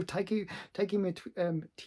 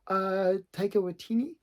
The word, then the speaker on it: Taika Waititi: So Taiki or whatever his name is. I can never pronounce his name right. I think I pronounced it earlier correctly, but this time not so much. Taika Waititi, yeah.